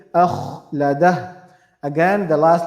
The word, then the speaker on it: أخلده: We have to make sure this kha we're pronouncing is clear and heavy. Akh, not not light, but heavy. Akhladah.